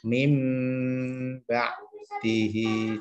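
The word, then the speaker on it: مِنۢ بَعْدِهِ: Cara membacanya adalah mim. Nah, kita langsung ke suara mim. Diganti suara mim karena bertemu dengan huruf ba. Bukan ming, bukan eng, tapi mim ba dihi.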